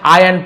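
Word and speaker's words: iron: वहां था a large आयरन pipe आयरन आयरन नहीं बोलेंगे आयरन आई आर एक साथ हो तो आर साइलेंट है बट हम लोग आयरन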